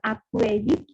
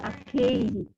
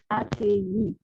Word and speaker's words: accueilli: Tadi pronunciasinya bukan accueilli, dibaca ke saja, biasa, ya accueilli. Tidak ada bunyi vokal ganda dalam bahasa Prancis. Jadi u-nya tidak dilafalkan, ya accueilli.